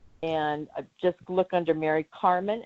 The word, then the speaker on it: Karman: And just look under Mary Karman, and that's Karman, like karma with an N.